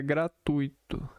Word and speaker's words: gratuito: A pronúncia correta é gratuito. Com a sílaba tônica no tu, a forma gratuito com acento na segunda sílaba está equivocado e não é aceito na norma culta da língua.